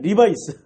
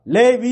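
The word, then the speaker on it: Levi's: 보니까 뭐로 발전하면 세계적인 리바이스이 리바이스 옷이 이게 이게 자 리바이스가 아니라 레위 읽으면 돼요 이게 레야 레위 어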